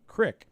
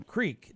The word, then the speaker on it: creek: out there and used talking about Crick yeah same spelling Creek just dialect pronounces it differently so okay I feel like that is true there are certain areas where it's called Crick and not Creek that is true however it's still wrong in terms of grammatically it's incorrect the pronunciation is incorrect people pronounce it that